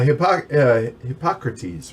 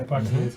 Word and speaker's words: Hippocrates: Hippocrates, right? Yeah. I think is how you say Yeah, it. Hippocrates, yeah.